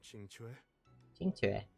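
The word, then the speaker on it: Qingque: you're in the mood to play right now chingu chingu okay we found out how to pronounce her name CH even if the sky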